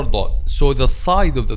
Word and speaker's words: ضاد: Actually, we pronounce this, the letter ضاد is somehow different of all other letters we discussed, because it doesn't pronounce from this top part or middle part or back part. But when we pronounce letter ضاد, we are using the side of the tongue or the 2 sides.